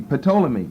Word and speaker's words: Ptolemy: Ptolemy does not start with a T. The P is silent. Ptolemy starts with a P. Ptolemy, but don't call him Ptolemy.